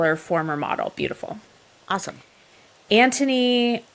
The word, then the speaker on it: Anthony: former model beautiful awesome Anthony why can't we ever pronounce the h in Anthony I don't know it's it's different right like it's yeah it's like a Silent Age okay so Anthony is